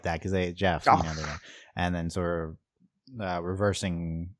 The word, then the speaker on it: Geoff: No, it's Jeff. Yeah, Even though like I mentally pronounce that as Joff.